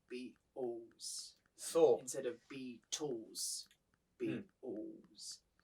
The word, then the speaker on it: Beatles: I know that a lot of Japanese people will say Beatles. そうそう、ビートルズって日本そう。 There's only two うんうん。 syllables in Beatles.